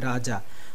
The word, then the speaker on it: Raja: to write Raja, R-A-J-A, Raja, but in Oriya we pronounce it Raja. As I was saying before, that in Oriya the pronunciation is like a O, so Raja we used to pronounce.